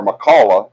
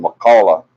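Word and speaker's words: McCalla: Antonio grill in makaula our makalah is how it's pronounced methyl you know me if I say it wrong it's makalah San Antonio grill in makalah Alabama this Saturday July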